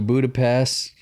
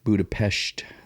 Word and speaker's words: Budapest: been to twice uh budapest it's not pest budapest the s it's pronounced with sh just the way they